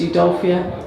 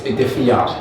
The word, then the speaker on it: Udofia: Is that the correct way to pronounce your name? It is. Because I bet you a few people pronounce it wrong. Udofia. Always a bit of that. But no, you done it.